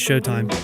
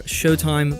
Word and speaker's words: Sheauxtime: or instagram all under showtime podcasts that of course is spelt the Cajun Way sh e aux time podcast also if you'd like to